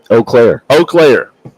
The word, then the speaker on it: Eau Claire: Greenwood Christian has, I want to say it wrong after you say it, Alex. Eau Claire. See, I would have said it wrong.